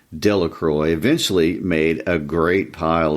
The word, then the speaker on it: Delacroix: Bobby and Harry Jones and Dickie Delacroix, the villagers pronounced his name, Delacroix, eventually made a great pile of stones in